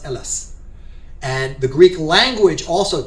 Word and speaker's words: Hellas: It looks like the letter H, but it's pronounced Hellas.